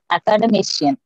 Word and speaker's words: academician: Accent on the fourth syllable. Yeah. Academician. Academy. Academician.